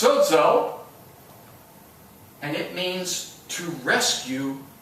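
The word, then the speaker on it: σώζω: The word save in Greek is pronounced sozo, and it means to rescue from perilous danger.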